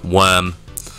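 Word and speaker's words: wyrm: can't pronounce worm wire hey Siri pronounce w y r m whim worm worm frigger have you seen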